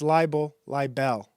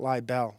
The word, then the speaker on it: libel: He's It's liel libel. I think he was calling it lie bell.